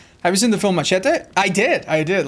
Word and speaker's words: machete: Today I learned that machete isn't pronounced machete. Well, in Spanish you say machete. And maybe in South America someone will say it's slightly different, but even in South America it's machete, but that's just because